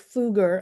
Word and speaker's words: Foge: Eric Fuger, am I pronouncing that correctly? Fuger. Yes. Fuger. Fuger.